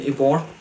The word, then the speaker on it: Ybor: So they founded Tampa Bay Brewing when they opened their first brew pub in Ybor City in 1997, if I'm pronouncing that correctly, Y-B-O-R.